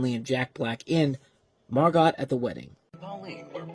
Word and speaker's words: Margot: So I guess here the T is silent.